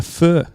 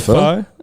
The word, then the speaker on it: pho: Yeah, I love a pho. A fur. That's obviously. right. Yeah, it's something that the rest of it's a bit like when the guy who invented GIFs said it's actually pronounced GIFs, right? And everyone went, "Nah, mate, GIFs." We've decided. I think fur, even though it is technically how the Vietnamese pronounce it, we're going, hey, we